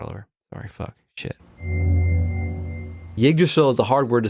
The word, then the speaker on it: Yggdrasil: Yggdrasil is a hard word to say. Yeah, you got to not pronounce the Y, but also acknowledge it. Yggdrasil, yeah.